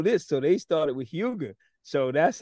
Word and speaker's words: Huger: talk about two things my my last name is pronounced hu G so we're from my mom is from South Carolina and dad from South Carolina and our last name is pronounced hugi so when I came